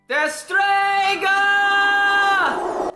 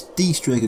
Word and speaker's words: Destrega: Deh-streeegaaa!"] It's "DEE-strega" Gradd! For fuck's sake, she just said! It's "Dee-strega like it's "Tieme" like it's "Tee-dus".